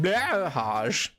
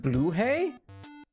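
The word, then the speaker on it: Blåhaj: Is it like blahaj? I'm sorry if anyone's Swedish. Pronounced blue hay?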